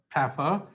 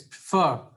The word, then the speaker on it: prefer: it like prefer so the correct pronunciation is not prefer it's prefer that means the stress is on the second level so the rule